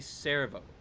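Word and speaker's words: Cerveau: It's actually Servo, because that's my French friend helped me with some of these pronunciations, and so why is the video The not following playing?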